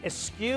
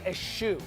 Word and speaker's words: eschew: Is it eschew or eschew? There is, I believe, two proper pronunciations of eschew, E-S. Classic American English. And eschew. So two ways to say.